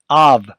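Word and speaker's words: אב: The next word begins with the silent letter Aleph. So we only have the sound of the vowel underneath the Aleph with the ah sound. And the second letter is the vet with the v sound. So when you put it all together, it's av, father.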